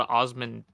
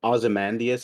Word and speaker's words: Ozymandias: I think it's called Osmondeus or something. Let me. Oh, I have read Osmodeus. Ozymandias. I've heard like multiple pronunciations of it.